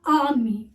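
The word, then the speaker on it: ammi: बहुत से बच्चे इसको एमी प्रोनाउंशिएट करते हैं, but Ami, it is not a correct pronunciation. The correct pronunciation is that the army.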